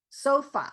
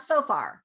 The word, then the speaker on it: sofa: end with an r it's a schwa so sofa you know not so far but so far so far okay no r so far okay just so